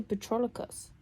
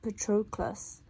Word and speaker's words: Patroclus: I want to say Patroclus, like the early forms of humans, but it's Patroclus.